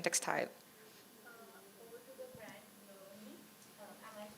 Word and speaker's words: Bloni: Over to the brand Bloni. Am I pronouncing it right? Bloni. Yeah, it's called Bloni.